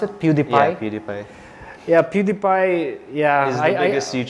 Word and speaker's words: PewDiePie: about PewDiePie all those is that how you pronounce it PewDiePie PewDiePie yeah PewDiePie yeah is the biggest YouTube